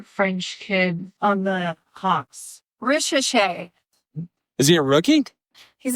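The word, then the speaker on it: Risacher: Zachary Richer. Hold on. I'm asking the other expert here. How do you pronounce the other French kid on the Hawks? Richer.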